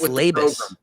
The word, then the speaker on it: Labus: It's Labus. It is Joey Labus. And that's pronunciation guide.